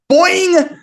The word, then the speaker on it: boing: Boing! That says boing, not Boeing, even though it looks like it rhymes with going.